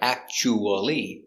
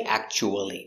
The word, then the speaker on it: actually: It looks like actually, but we don't say actually. We say actually.